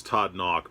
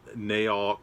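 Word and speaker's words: Todd Nauck: much it is not naok it is not nook it is todd knock it almost sounds like you're saying knock on the door but it's knock n-a-u-c-k knock knock like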